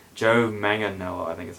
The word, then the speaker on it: Manganiello: Joe Manganiello, I think is how you say it.